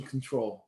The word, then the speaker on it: CTRL: and that's called Mission Control. And so if you look up Mission Control, but control is spelled CTRL, kind of like the key control, Mission Control, that's available